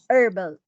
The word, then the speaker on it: herbal: Herbal. It's coming from herbs. Okay, herbs. Okay. Now there is no it's herbal herbs.